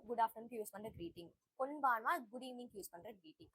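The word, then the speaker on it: こんばんは: Good afternoon ஐ மீன் good evening வந்து கொன்பான்வா. கொன்பான்வா. கொன்பான்வா. First கொன் pronounce பண்ணனும், அதுக்கப்புறம் பான் ப்ரொனவுன்ஸ் பண்ணனும், அதுக்கப்புறம் வா ப்ரொனவுன்ஸ் பண்ணனும்.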